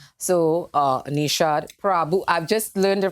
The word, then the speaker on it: Prabhoo: So, Neeshan Prabhoo. I've just learned the correct way to pronounce his name.